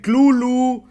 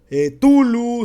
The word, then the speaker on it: Cthulhu: misma es impr pronunciado Le puedes decir clu tulu setu ya vimos que que Yoshi le dice clu Sandy peterson al cual respeto mucho también le dice kazulu entonces para mí sigue